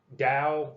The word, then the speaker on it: Tao: with a t but you still pronounce it dao like the dow jones industrial average and it it's taoism